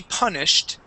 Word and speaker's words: punished: yes you will be punished if you don't put your toys away okay let's practice this word one more time Jose say the word is punished with a t ending punished punished good nice